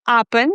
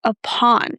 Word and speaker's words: upon: Not upen, but upon.